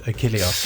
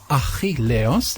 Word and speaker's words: Achilleos: You did, Achilleos. That's perfect. I was trying to make it out. It's a lot of Greek to me. In Greek, the pronunciation is Achilleos.